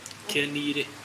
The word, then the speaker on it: Kenire: Kenire. I'm pronouncing it the way it's supposed to be.